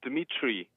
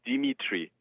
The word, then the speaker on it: Dimitri: uh Dimmitri. But um in in Estonia, it is for Estonians hard to pronounce DM simultaneously. So they say Dimitri.